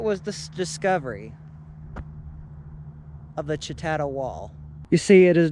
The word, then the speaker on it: Chatata: a small rural community known as chatata or better known by its Cherokee pronunciation as shet now before this land